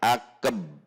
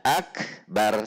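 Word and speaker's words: أكبر: Sehingga jika kita membaca seperti ini, akbar. Kalau dilambatkan, akab. Jadi masuk ke ab dulu, sehingga seolah-olah itu ada sukun atau tasydid pada huruf ba. Akbar. Nah, ini tidak boleh. Akbar. Jadi ada ada abnya dulu. Seharusnya akbar, tidak ada abbar.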